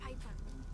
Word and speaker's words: Piper: By the way, the name's Piper. Rhymes with Viper.